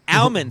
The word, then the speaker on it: almond: There's an L in the words, and I'll be damned if I don't pronounce it.